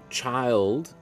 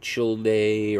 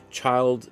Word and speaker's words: Childe: um his middle name child and that's the way it's pronounced not chill day or anything like that child you know was given